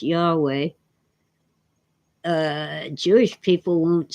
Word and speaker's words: Yahweh: Jehovah is just a way that some people pronounce Yahweh.